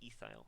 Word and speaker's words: ethyl: branch it gets the ending yl so it's pronounced efile and there should be a c2h5 branch 99%